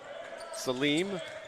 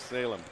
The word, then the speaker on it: Salem: Cream Martin bringing it down, now getting it to Salim, or Salem, I guess is how we pronounce that. Correct, Danny? Correct. Salem.